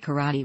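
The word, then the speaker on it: 唐: such words as meaning Chinatown thus the word karate was originally a way of expressing martial art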